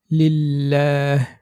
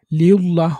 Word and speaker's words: লিল্লাহ: যেমন লিল্লাহ, লিউল্লাহ হবে না। এখানে যদি আমরা পুর করে লিউল্লাহ বলি সেটা ভুল হবে।